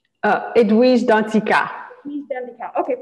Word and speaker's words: Danticat: author um so let me make sure i pronounce right so edward's done decal right oh edwise dantzika he's been the cow okay perfect yes so